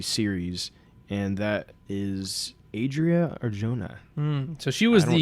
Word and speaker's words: Arjona: and that is Adria Arjona. So she was I don't know if that's how you say it, but that's how I'm saying it. Yeah, it looks like that. Anyway, more like Orjona.